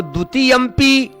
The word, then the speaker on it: द्वितीयंपि: लेकिन शुद्ध उच्चारण द्वितीय य पर अनुस्वार देकर के पी को अलग निकालना है।